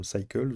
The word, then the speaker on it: Cycles: Donc dans la prochaine vidéo, nous verrons les paramètres de Cycles, ou Cycle, hein, selon si vous le prononcez à l'anglaise ou à la française.